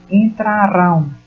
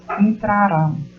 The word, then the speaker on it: entrarão: Olha, entrarão. Percebam que a última sílaba é pronunciada com mais força.